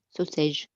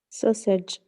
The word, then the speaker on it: sausage: them all of them messages sausage like message you have to say it like message sausage yes that's it sausage correct sausage yeah